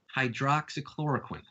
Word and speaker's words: hydroxychloroquine: to say pronounce spell just think of this harley quinn loves Hydrox cookies hydroxychloroquine from me to you